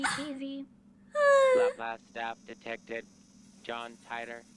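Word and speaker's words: Titor: John Titer. Oh, it's Titer, Examination shit. starts. I've pronounced it wrong my whole life. In every single thing where there's a character called John Tyler, I've said it wrong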